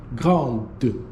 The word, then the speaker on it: grande: to be elle est grande. And yes, you're going to have that pronunciation that's going to be de.